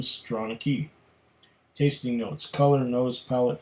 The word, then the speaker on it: Stronachie: Stronachie, Gaelic for prominent nose, headland in the valley, pronunciation Stronachie.